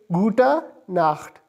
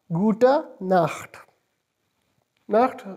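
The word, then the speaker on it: gute Nacht: GU te n a CH T and it's pronounced is buta naft gouta not that shows night afters would you for night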